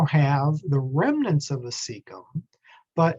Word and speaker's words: cecum: this organ called the cecum c-e-c-u-m it's pronounced like it's a s sound so c is a